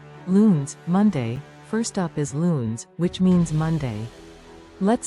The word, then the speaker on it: lunes: one section two loons Monday first up is loons which means Monday let's say that together loons great job loons is the start of the week for many let's say it again loons remember the pronunciation is luness section three Mart's Tuesday next we have martes